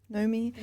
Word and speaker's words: Nomi: Nomi. Cuz it's like Naomi, but it's the other way around. So, it's like know me.